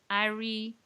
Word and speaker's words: Aris: and and that's that Arie is yeah AR is spelled AIS s and the S is silent so that's kind of